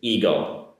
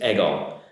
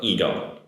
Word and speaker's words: ego: Pronunciation here in English, American English anyways, it's ego. Japanese is ego. But this is an E, so ego. I mean, the spelling's on an E, but also the pronunciation is an E, like read, same E pronunciation.